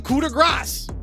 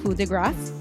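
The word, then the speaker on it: coup de grâce: of America or speculation a lot of Americans think that they're pronouncing It the French Way by dropping this sound just like how we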